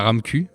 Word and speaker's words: RAMQ: d'assurance maladie du Québec, donc la RAMQ, à prononcer comme ça, mais il y a une carence de 3 mois au départ.